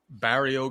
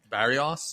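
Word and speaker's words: Barrios: Is this Bario guy even somebody that could beat him? Say it right. Barios. Barios.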